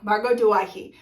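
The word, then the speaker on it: Margot Douaihy: Yeah, Margot Duwaihi.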